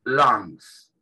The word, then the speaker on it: lungs: Bien, vamos a, en estos tres últimos pares, en principio, lungs, ¿sí? Vienen de A2, es donde se produce el intercambio gaseoso. Estamos hablando de los pulmones, ¿sí? Lungs. La G no se pronuncia, ¿sí?